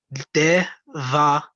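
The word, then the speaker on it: דברים: So that's going to be Devarim. Devarim. Devarim. Okay. Yeah, it's acting as an E.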